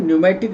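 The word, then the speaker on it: pneumatic: पी न्यूमेटिक bone, P silent है, न्यूमेटिक इसको बोलते हैं।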